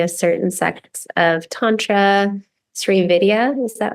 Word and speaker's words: Sri Vidya: talk about your path through, you've been studying a certain sect of Tantra, Sri Vidya, is that how you say it? Yeah, Sri Vidya.